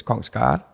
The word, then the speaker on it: Kongsgaard: I think if you want to do the English pronunciation, then it's Kongsgaard. Kongsgaard, yes. Yeah, that's a bit easier to make it sound like that.